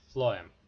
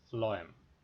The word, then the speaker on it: phloem: and the second is phloem phloem is actually original ph ph is pronounced as f and phloem so this is a